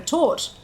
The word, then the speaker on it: torte: T as in town, backwards C as in horse. So it's tort.